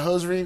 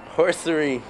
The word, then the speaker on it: hosiery: If he knows about hosiery, we need to ask Steven. All right, let's take a look. Steven, pronounce this word correctly. Horsery.